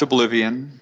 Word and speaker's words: Obliv18n: It's pronounced Obliv18n, but the logo incorporates a 1 and an 8 into the I and the O at the end of the word.